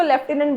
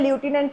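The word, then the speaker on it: lieutenant: लेफ्टिनेंट की spelling इसको लेफ्टिनेंट बोलते हैं। लूटिनेंट कोई ना समझे। राइट? लेफ्टिनेंट होता है ये।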